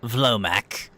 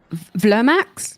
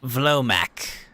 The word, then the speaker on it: Vlomac: My name's Vlomac. I'm the... Hold on, I'm sorry. Vlomax? Vlomac. Vlomac. Yeah.